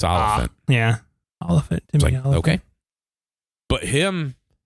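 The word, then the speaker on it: Olyphant: main character I like timoy yeah I can't pronounce his last name so say it yeah olant olant he's uh and the only reason I know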